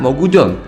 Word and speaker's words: Mogushon: Villain utama pada episode kali ini adalah si Mogujon, tapi nama resminya ya Mogushon ya. Cuman aja atau pelafalan Jepangnya Mogujon, C-nya jadi huruf J gitu ya.